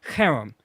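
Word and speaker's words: cherem: will spell it spell it just real quick spell it c h e r m so Kum and it means as I said it it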